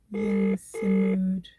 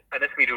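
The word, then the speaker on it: Ynysmeudwy: It's Yinsimud.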